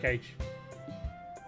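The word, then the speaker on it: gauge: How do you pronounce it? Gage.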